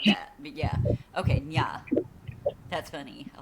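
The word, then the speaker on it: nhà: That NH is pronounced like an N with this in Spanish with the squiggle over it. Oh, like an inye. So, Nya.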